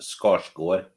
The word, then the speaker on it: Skarsgård: It's pronounced Skarsgård. What he said. Right. Yeah, the D is silent.